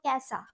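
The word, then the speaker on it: कैसा: ঐকার দন্তস আকার কি কৈশা বলবো না কৈষা বলবো না কি বলবো ক্যাসা কি বলবো ক্যাসা কয় যে ফলে আকার অন্তস্থ দন্তস আকার কি বলবো ক্যাসা বলবো যে যেহেতু এ উচ্চারণ হয় ঐকার গুলো সেজন্য ক্যাসা বলবো ঠিক আছে তাহলে কি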